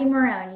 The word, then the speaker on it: Marone: Do you pronounce the E at the end or not? Is it Marone or is it Marone? Marone, you got it.